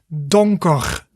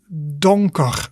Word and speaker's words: donker: good and then the last one that is donker donker repeat after me don koch and that is